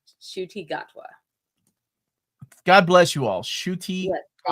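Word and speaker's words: Ncuti Gatwa: thank you for that it's pronounced shoy shuti gatwa God bless you all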